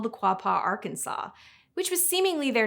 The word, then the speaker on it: Arkansas: We know Arkansas is pronounced Arkansas, but that wasn't always universally agreed upon. One senator preferred Arkansas in the 1800s until a resolution was passed.